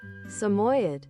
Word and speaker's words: Samoyed: By the way, to answer your question, I'm planning to make my persona Samoyed who's a puppet. Wait, Samoyed? How do you say that? Wait. Am I saying it right? Samoyed? Wait. Samoyed.